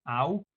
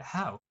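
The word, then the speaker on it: hau: So they would say something like, to say this, we say au in Basque, au, just A-U, but we write it with an H because over there they pronounce it how.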